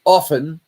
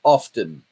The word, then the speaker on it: often: was always taught that often is pronounced with the T being silent it's not often it's often now they've changed that